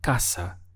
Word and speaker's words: casa: would be me Gazza you'll also hear this pronounced as me Casa with more of an S sound depending on which country you're in but either way you'll be understood how would you say